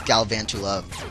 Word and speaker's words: Galvantula: into like I said Galvantula or Galvantula however you want to pronounce it it's it's Galvantula by the way um tarantula not tarantula um but yeah it's